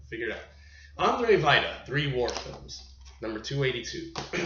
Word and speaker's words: Andrzej Wajda: i've got it i figured out how to pronounce his damn name and i'm just oh gosh all right figure it out andre vita three war films number 282 we are finally kicking it off andre vida starting off with number 283 andre vida a